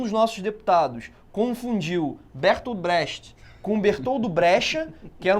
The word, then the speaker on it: Brecht: E aí é muito engraçado que tem um deputado que fala assim, Brecha, ele, Brecha. Brecht!